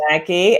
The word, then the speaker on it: Maki: I think you pronounce it. Is that right? Oh, yes. Maki and Rebecca Parker.